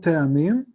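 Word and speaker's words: טעמים: So when the light goes in, it's called te'amim. Te'amim. This is the light going in. And the light that enters, te'amim. Te'amim. Yeah, they spell it ta'amim in English, but.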